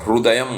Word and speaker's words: Hrudayam: Chanting this holy hymn Aditya Hrudayam. It's also called Aditya Hrudaya Stotram. Hrudayam also, because in Gujarat and in some other places people do pronounce the Kri sound, right?